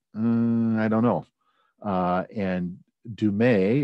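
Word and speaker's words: Du Mez: i don't know and dumay is how you say her name uh does a phenomenal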